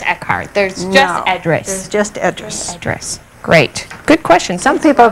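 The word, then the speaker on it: Edris: there's just address just addressed great good question some people pronounce that idris idris oh no but i don't i address is more like the way she pronounced it okay great we have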